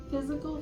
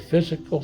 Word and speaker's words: FYZICAL: So, it's spelled F Y Z I C A L. F Y Z I C A L spelled different. Spelled different. They are different.